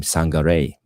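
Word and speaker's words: Sangaré: I think actually you pronounce his name Sangare because it's a dot over the E. So Sangare.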